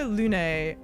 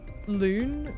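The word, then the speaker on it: Lune: the thing is uh Luna's name in French would just be pronounced Lon which means Moon there's no like accent over the E so I I don't know why they're pronouncing it Luna but they are um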